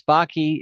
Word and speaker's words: Backe: Yes, hi, I am Backe. It rhymes with hockey.